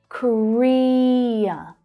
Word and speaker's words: Korea: So we have South Korea. Korea. So that's the second syllable that's stressed there.